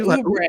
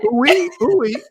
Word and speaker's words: Oubre: He said Oubre. She said, what? She said, ooey. He's like, no, not ooey.